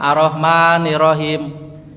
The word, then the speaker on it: Ar-Rahmanir-Rahim: Salah aja tasdidnya, baca Fatihah Ar-Rahmanir-Rahim, nggak ada apanya, tasdidnya, syiddahnya nggak ada. Harusnya Ar-Rahmanir-Rahim, dibaca datar Ar-Rahmanir-Rahim.